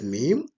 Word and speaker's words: mim: As you can see, mim mim pronounced as mim and it sounds more like M.